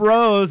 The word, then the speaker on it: Roos: Roos, it's spelled R-O-O-S, of Homestead Olive Ranch.